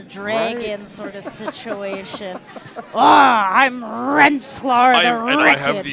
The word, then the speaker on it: Rensselaer: Yeah, he said RPI is Rensselaer, which I was right about. Yes, correct. Yeah.